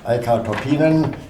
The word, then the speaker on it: Eicca Toppinen: On the interview with Rock Bottom, Eicca Toppinen, is it pronounced rightly?